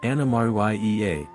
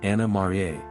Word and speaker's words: Anna Maria: Charles II of Spain pronunciation of the name has evolved early residents said anamar yaa while today it's commonly anamar Spanish influence waned after